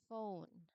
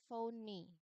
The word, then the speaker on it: phone: Because again, what is the pronunciation of the word? That is phone. It's not phony. No? If we say phony, then that is where the letter e sound is counted. But again, the pronunciation of the word is phone. So, it's not counted. Meaning What do we mean by this one? It means that the final e Um the final e letter is silent.